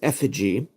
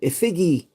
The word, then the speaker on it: Effigy: cool blazing Effigy and it is effigy although when I was a kid I used to pronounce it igy now I'm curious to